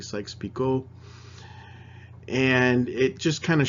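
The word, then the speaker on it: Sykes-Picot: of French name so it's not pronounced peacock a lot of people say Sykes peacock but it's actually Sykes Pico and it just kind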